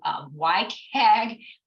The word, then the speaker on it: WCAG: So you may have heard of WCAG. Don't ask me why it's pronounced that way when it starts with a W, but it is.